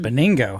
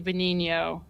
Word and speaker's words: Benigno: I pronounce it boningo. How do you pronounce it? Yeah. So, okay. No, I guess it's the other way around. So, actually in Italian it would be Benho. That's how you do say it.